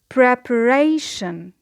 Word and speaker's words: preparation: Preparation. It is a word of 4 syllables and the stress, as you notice, is on the third syllable just before the suffix ion.